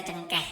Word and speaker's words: cengkih: Ya, kita bacanya cengkeh, ya, tapi tulisannya cengkih.